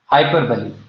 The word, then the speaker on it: hyperbole: आप यहाँ पर अपनी कॉपी में बली लिख दो बस, हाइपर बली। और वर्ड की स्पेलिंग क्या है?